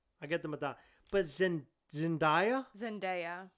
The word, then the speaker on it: Zendaya: I get the Madonna, but Zendaya. How is Zendaya doing? Yes. And for the record, her first name is pronounced exactly how it's spelled.